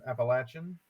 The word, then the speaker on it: Appalachian: No, we are from the Southern Appalachian Mountains, and it is pronounced Appalachian.